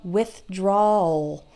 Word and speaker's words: withdrawal: word we say often withdrawal it's kind of just take the word withdraw and end ole at the end withdrawal withdrawal withdrawal you almost don't hear the W let's see what else